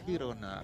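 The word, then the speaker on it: Girona: Now, you've gone with the pronunciation of Jirona as opposed to the Spanish Hirona.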